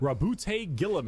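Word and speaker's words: Roboute Guilliman: Rabute Gilliman.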